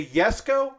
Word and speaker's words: Jesko: working on the the yes go it's spelled with a j and pronounced like a y the yes go uh you can see